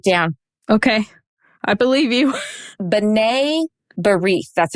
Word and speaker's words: B'nai B'rith: B'nai B'rith. That's how you say it. Sorry, it's not spelled that way. So B'nai B'rith is how you say it.